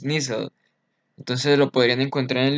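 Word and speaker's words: Nissl: y la sustancia inicial mucha gente pronuncia sustancia en inglés y no es así es ser su pronunciación es nissan entonces lo podrían encontrar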